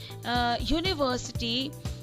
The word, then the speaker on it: university: So you observe that university, it is beginning with a vowel, but the sound is of consonant, that is y.